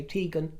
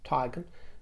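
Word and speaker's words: Teigen: And I'm using her pronunciation. I know others say Tegan. She says Tigan.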